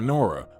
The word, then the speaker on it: Nora: The young parents heeded their grandfather's advice and gave her a completely different name, Eleonora, but they affectionately called her Nora, with the emphasis on the first syllable.